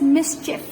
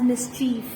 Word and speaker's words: mischief: up to something and mischief it's pronounced as mischief and not as mischief taken it's a noun